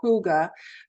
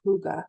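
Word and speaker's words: hygge: you may have heard of it it's called Huga but it's spelled h y g g and Denmark ranks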